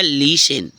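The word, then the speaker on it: listen: एस टी एन है तो क्या होगा टी साइलेंट हो गया तो हो गया लिसन क्या है लिसन बट आपको ऐसे भी नहीं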